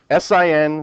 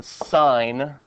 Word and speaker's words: sine: This is pronounced the sign of theta. Okay. You would pronounce it like you pronounce a stop sign.